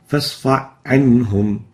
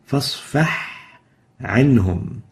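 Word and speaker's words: فاصفح عنهم: We should pronounce it clearly. فَاصْفَحْ عَنْهُمْ. A ha should be clear and should not be merged into the Ain.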